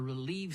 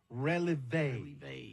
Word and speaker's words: Relevé: It was them dancers that performed from the Relieve Studio Dance Group. Oh, no, son, I think it's pronounced Relevé. Relevé.